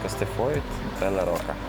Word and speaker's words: Castellfollit de la Roca: Ты знала, что две л читается как и? Кастн кай кастфоидрока.